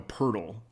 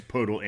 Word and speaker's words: Poeltl: They sent DeMar DeRozan and Jakob Poeltl. Or some people say I'm calling Pirtle, which is a kind of an odd pronunciation, but I've heard it both ways, Poeltl and Pirtle.